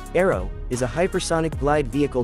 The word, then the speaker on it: ARRW: The AGM183A air launched rapid response weapon commonly called ARRW pronounced arrow is a hypersonic glide vehicle developed by Loheed Martin for the US Air Force.